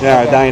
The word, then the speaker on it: Edina: from uh What uh it's pronounced yeah din yeah all right back